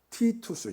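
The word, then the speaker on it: Titus: 로마의 장군 의 이름이 티투스 주어 우리가 디도 라고 하는 장군을 어 원래 발음은 티토 수입니다 많은 얼마나 장악해 는지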